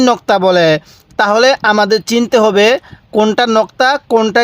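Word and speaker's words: حاء: বাতাস বের করবেন তাহলে এই হা টা সহি উচ্চারণ হবে তাহলে হা এরপরে এই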